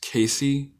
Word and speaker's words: KaKc: It is pronounced KaKc, KaKc. I know it doesn't look like KaKc, but I pronounce it like KaKc. And yeah.